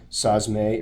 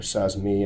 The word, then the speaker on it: sazimai: on my terrine diploma sahs may or says me effort pronounced both ways as you can see